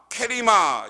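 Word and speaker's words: κρίμα: 여기에서 보면 비판이란 말은 케리마 이렇게 발음하는데요, 이게 비판이에요. 이 비판이라는 말은 판단이라는 말로, 사실은 원래 이건 법정 용어인데 재판받다, 그리고 부정한 판결을 하다, 잘못된 판결, 이게 크리마라는 단어입니다.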